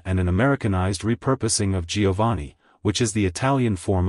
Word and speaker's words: Jovanni: It's pronounced as Giovanni. Giovanni. Giovanni. To pronounce it correctly, emphasize the vowel syllable and make sure to stress the ee at the end.